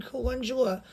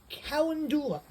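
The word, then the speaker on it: calendula: Here they call them colundula. But the actual correct pronunciation is kendula, but if you ask for that here, many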